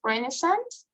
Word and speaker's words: Renaissance: been largely abandoned okay the pronunciation is renaissance okay it's like um i